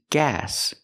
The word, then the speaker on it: gas: We use the a sound like black cat. It's more open. The tongue is down in the front and up in the back. Ag gas tank. not guess tank, but gas tank.